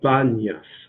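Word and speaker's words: Banias: worship of pan but the Arabs can't pronounce the letter P and so pan that prompted to bun and it takes name banyas Bunya and we will see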